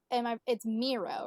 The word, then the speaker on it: Miro: Now it's Miro, right? Yeah. I just want to make sure I was pronouncing it right.